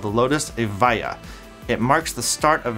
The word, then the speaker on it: Evija: growing Automotive Group it's significance cannot be overstated pronounced avaya it means the first in existence or the